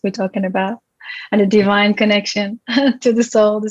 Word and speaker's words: Devine: it's been a while i hate to correct you quickly but it's pronounced divine divine oh my god i